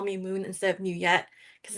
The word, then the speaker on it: Nguyet: Um, I chose many of my clients call me Moon instead of Muette because it's easy to pronounce and it's easy to remember.